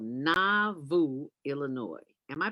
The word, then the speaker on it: Nauvoo: and a half hours south of chicago called na vu illinois am i pronouncing that right dwayne yeah you're pronouncing it